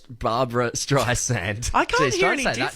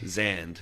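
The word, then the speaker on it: Streisand: times it's it's a it's a s not a zed oh Z yeah Barbara stri sand zand not zand right wait which one's right sand is right with the S with the S Barbara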